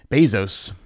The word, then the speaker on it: Bezos: don't know if you heard but Jeff Bezos Bezos I guess that's how you say it right